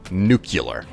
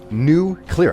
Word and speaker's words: nuclear: When people say nuclear. Oh my god, it drives me crazy because it's the most terrible pronunciation of a word that I have ever heard in my life.